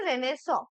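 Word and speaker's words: Renaissance: তো রেনেসিয়ান্স বলেছে, তো দেখো এটাই কি হয়, আর ই এন এ, ঠিক আছে, এটা রেনেস, প্রোনাউন্সিয়েশনটা হয় কিন্তু রেনেস, ঠিক আছে, আর ই এন এ আই, ওকে, তারপর ডাবল এস এ এন সিই, ঠিক আছে?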